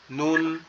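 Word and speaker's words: نون: উপরে যে অংশটা আছে, জিহ্বার আগাটা এই উপরের অংশের সাথে লাগবে। কিভাবে? নুন নুন, সিম্পল এরকম, ঠিক আছে।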